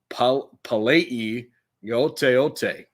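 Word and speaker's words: Palaie Gaoteote: we're still learning, but I believe it is pronounced Palei Yoteote.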